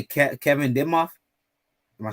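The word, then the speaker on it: Demoff: So he how do you say Kevin Dimoff? Am I saying that right? I believe that's the GM. No, you're right. The Rams COD. Yeah, Kevin Dimoff.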